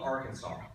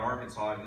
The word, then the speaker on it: Arkansas: smart they had about Arkansas is the silent s I mean people from